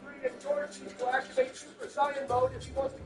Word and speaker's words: Super Saiyan: It's a 2v3 and George needs to activate Super Saiyan mode if he wants to keep his team in it. It's pronounced Super Saiyan, not Super Saiyan.